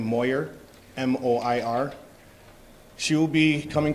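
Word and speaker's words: Moir: Her first name is spelled S-Y-L-V-I-A, last name Moyer, M-O-I-R.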